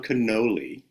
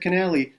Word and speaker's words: Canali: You you said Cannoli because you were thinking of. I told you how to pronounce it. Like I said, Canali, like cannoli, and then you said